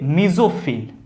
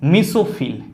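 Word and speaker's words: mesophyll: क्या कहेंगे, मीजोफिल, और इंग्लिश में इसी को हम लोग कभी कभी प्रोनाउंसिएट कर देते हैं मीसोफिल। क्या करते हैं प्रोनाउंसिएट इसका, मीसोफिल, या फिर हिंदी में याद रखेंगे मीजोफिल।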